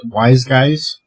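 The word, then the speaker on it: Wyz Guyz: That would be pronounced Wise Guys. What? Okay, thank you. And so-called free How did TV. you know? Because you sit there, WYZ would be wise, GYZ would be guys, Wise Guys.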